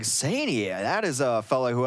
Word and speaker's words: Saini: So Saini. Saini? It said say and then ni.